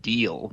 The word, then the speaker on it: Diehl: It's a German last name, actually, and lucky for me, it's pronounced Diehl, because that makes it really useful for business-related puns.